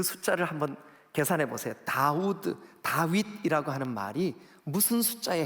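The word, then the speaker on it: דוד: 여러분이 숫자로 한번 볼게요 다윗을 다윗을 이렇게 발음합니다 다우드 우리말 번역 성경에는 다윗 이렇게 번역되어 있습니다 자 그러면 우드라고 하는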